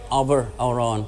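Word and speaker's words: abair amhrán: to remember that an irish you always say abber auron which means tell me a song tonight his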